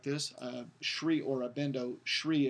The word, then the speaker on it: Sri: Sri Aurobindo, Sri is S-R-I with a dot under the I, so it's pronounced with an SH, and it just means it's like an honorific.